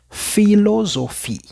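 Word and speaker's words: philosophie: Y la P con la H en francés siempre lo vamos a pronunciar igual a una F. Como podemos ver en el ejemplo, filosofí.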